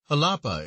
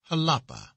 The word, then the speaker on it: Jalapa: flesh is heir to halapa is pronounced as though it were spelled with an h with a soft sound to the a halapa there are many cotton